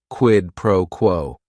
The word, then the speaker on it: quid pro quo: Each word is only 1 syllable. And if you're saying it together, the stress is kind of on that first word and that last word, quid pro quo.